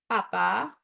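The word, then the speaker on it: Papá: So vimos a Papa, accent on the second A, Noel, right?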